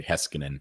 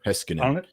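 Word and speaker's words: Heiskanen: unit for Vegas yeah that's not how you actually pronounce the name I just like to dramatize it it's uh really heskin I think is the proper finished way heskin I only think that's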